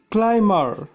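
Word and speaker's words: climber: কিছু ব্যতিক্রমধর্মী রয়েছে, যেমন ক্লাইমার মানে লতা, এখানে এমবি মাঝে থাকা সত্ত্বেও বি এর উচ্চারণ হয়নি।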